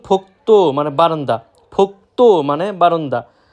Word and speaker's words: 복도: এরপর রয়েছে ফোক্তো, যেটা আমরা প্রায় সময় ফোকদো উচ্চারণ করে থাকি, সেটা সম্পূর্ণরূপে ভুল। সঠিক উচ্চারণ ফোক্তো মানে বারান্দা।